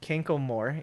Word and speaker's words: Kanklemore: Kanklemore. It's spelt exactly like you expect it to be, phonetically.